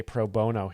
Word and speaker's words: pro bono: So you work proono is what the phrase started out as. Um but we say proono here in America. It's a different pronunciation than in Ireland.